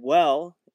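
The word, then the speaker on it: Wehle: friend of mine named David well I think is how you say his name spelled weh le he made a game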